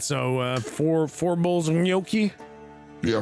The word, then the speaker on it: gnocchi: It's gnocchi. It's Gnocchi. It's Okay, but only gnocchi. because he pronounced it correctly.